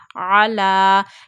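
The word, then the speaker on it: على: Ain fatha, lam vertical fatha, la, ala. Ya is silent here because there is no haraka present on ya. So ya is silent here. Read this vertical fatha on lam only.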